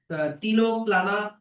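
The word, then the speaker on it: Ctenoplana: Example ক্লিউরোব্রকিয়া তারপর হচ্ছে টিনোপ্লানা। এখানে সি এর উচ্চারণগুলো কিন্তু সাইলেন্ট থাকে।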